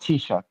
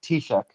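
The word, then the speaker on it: Taoiseach: First off, it's not pronounced Tisha. It's it's it's pronounced pronounced Tishuk as the Irish prime minister.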